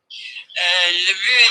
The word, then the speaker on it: but: In general, though, if you're saying to listen to the words generally, le but, that's it. Le but, we weirdly pronounce the T on that word.